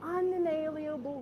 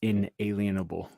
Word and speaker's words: inalienable: be fair it is it's not the easiest word to pronounce in English but it's inalienable now she added about